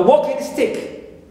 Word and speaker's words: walking stick: The same thing also for a walking stick, as a compound word and noun, gerund plus noun, we here also we stress the first one because it's a compound word.